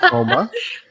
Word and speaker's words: Houma: We've heard, at least I have heard a lot about Houma, and I pronounced it correctly. You did it. Houma.